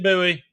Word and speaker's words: Bowie: And I brought it up last week, which you corrected me on the pronunciation, although apparently I'm the only person in the world now that says buoy knife 999.